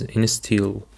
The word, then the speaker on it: instill: And now let's have the following word which is instill. Instill. The stress is on the second syllable.